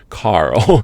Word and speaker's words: Carl: first name, which is Carl. There's an R and an L, so that made it very difficult.